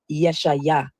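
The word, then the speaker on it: ישעיהו: The funny thing about the name Isaiah is many people don't know that the true Hebrew pronunciation of Isaiah is Yeshaya or Yeshu.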